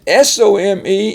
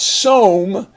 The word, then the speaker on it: some: my home and then s-o-m-e is not Psalm but some so we have the